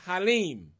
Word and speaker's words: Halim: you my brother and your first name is pronounced halim that's correct and the last is